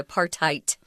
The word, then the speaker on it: apartheid: in South Africa and the D isn't pronounced you're actually saying a T apartheid okay okay fair enough